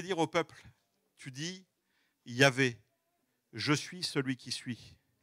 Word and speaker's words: Yahvé: Aujourd'hui, les linguistes, les experts, pensent que c'est plutôt la manière de dire de Yahvé, Yahweh, Yahvé. On pense que c'est plus comme ça qu'il faut prononcer ce fameux tétragramme.